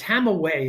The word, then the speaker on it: Hamawi: Because Dr. Adam Hamawi uh it's Hamaway is the way he pronounces it.